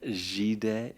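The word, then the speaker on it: Gide: Well, that is let's see uh here's a little quote at the end that I really love from Andre Jed Jed Jed spelled like guide gi quote one does not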